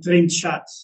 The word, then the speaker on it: trinxat: And there we have Trinschat, which is spelled TRINXAT.